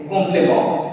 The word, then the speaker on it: complément: R will be pronounced A. Complément.